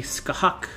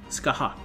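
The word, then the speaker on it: Scáthach: But I looked it up, and it's kind of like, he says the hatch at the end is pronounced more like hawk in hockey. So it'd be Skahawk. Skahawk.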